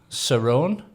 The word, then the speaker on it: Cerrone: I'm Johnny and I'm here today with Cerrone. It is Sirrone, is it? It is. Yeah, you pronounced it correctly.